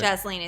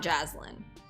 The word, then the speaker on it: Jasleen: Jasleen is right, not Jaslyn.